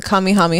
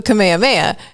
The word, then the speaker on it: Kamehameha: i was like um that's not how you say it dude he's like that's how you say it and i'm like i don't think you're right and i was like it's the kamehameha and he was like